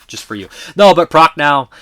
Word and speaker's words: Prochnow: Hamilton, Prochnow is not Perchow, it's Prochnow.